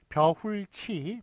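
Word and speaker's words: 벼훑이: 길이, 깊이, 높이, 다듬이, 땀바지, 달맞이, 먹이, 미닫이, 벌이, 벼훌치, 발음은 벼훌치로 납니다. 왜냐하면 티읕이 이를 만났을 때는 국외음화가 되거든요. 그래서 벼훌치로 납니다만 쓰는 거는 벼훌다, 벼를 훑는 거예요.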